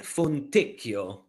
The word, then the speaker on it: Fontecchio: Yeah, Simone Fontecchio. Fontecchio? Yeah, Fontecchio.